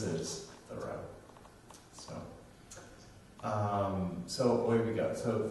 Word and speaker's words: Thoreau: Thoreau, but if you just say a thorough, it's just like a thoroughgoing reading of something. So the proper pronunciation is what you said. What everyone says is Thoreau.